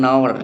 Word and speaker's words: hour: Hour kenapa ada an, ya, karena dia dibacanya bukan hour tapi hour, ya, hanya nggak nampak, ya kan, hanya seolah-olah nggak ada, yang ada di situ huruf o, ya kan, hour gitu kan. Jam itu kan bacanya hour, ya kan, bukan hour.